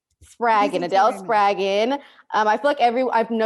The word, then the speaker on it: Spraggon: pronounce your last name spargan rhymes with dragon sprague and adele spragon um i everyone i